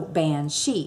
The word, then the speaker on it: banshee: Our way would be bean, but they pronounce it ban. And S-I-D-H-E, she. So banshee.